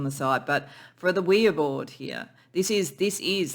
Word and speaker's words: Ouija: it is yes yes in French and German we and yah up here people go Ouija board and that's that's